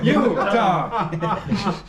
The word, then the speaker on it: Utah: It's 2 syllables. Utah. Utah are 2 syllables.